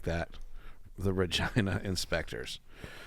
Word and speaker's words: Regina: I like that the Regina inspectors to be clear it rhymes with vagina it does good uh